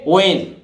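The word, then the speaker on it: when: इसी तरह देखिए डब्ल्यू एच ई एन, आप ये डब्ल्यू एच वर्ण है तो यहां भी एच साइलेंट रहेगा, ये वेन नहीं बोलता है जो सामान्यतः इस तरह से बोलते हैं हम वेन, ये गलत है भाई, इसको कैसे बोलेंगे वेन, वेन माने कब।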